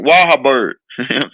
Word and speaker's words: Wahlberg: Yeah, Mark Walkerberg. How you say his name? Wahlberg.